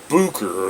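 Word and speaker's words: Böker: done this is a bokor now the way the germans pronounce it is bucher or something like that you know some people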